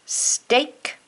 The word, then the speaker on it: steak: words today heart words steak great break here the ea is making a long a sound instead of an e sound that's why these are